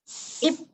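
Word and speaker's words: 잎: Ip, 맞아요. Nah, di sini P doang ya. Ya Rabun, kalau tahu bahasa Koreanya bibir itu juga dibacanya sama.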